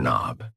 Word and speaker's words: knob: This thing here is a door knob. A dork knob. Yes. The K in knob is silent.